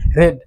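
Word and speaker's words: read: রয়েছে সেটা হচ্ছে রিড এটির উচ্চারণ হবে রেড এটির উচ্চারণ আবার রিড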